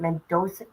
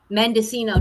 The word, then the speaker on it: Mendocino: Mendoza? Mendocino.